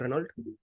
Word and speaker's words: Renault: So have you heard about the car company called Renault? Yeah, Yeah, Renault. it's actually pronounced as Renault.